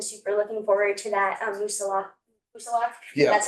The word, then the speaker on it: Moosilauke: Yeah, just because so many of our members have been super looking forward to that, Moosilauke.